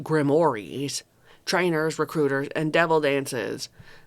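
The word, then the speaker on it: grimoires: Grimmoirs, which are pronounced grimores.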